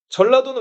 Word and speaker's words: 전라도: 자, 니은 자가 앞에 나와 있으면 그냥 나라고 발음하는데 그 뒤로 가게 되면 라라고 발음을 한단 말이에요.